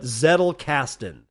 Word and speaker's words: Zettelkasten: Z is in Zettelkastn. Like kettlecast, but Zettelkasten.